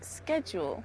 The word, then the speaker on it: schedule: We say schedule. The Americans say schedule.